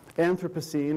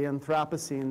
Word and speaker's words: Anthropocene: So I'm going to be talking in part about what's called the Anthropocene or the Anthropocene. There are at least three different ways of pronouncing it, and I'm indifferent among them.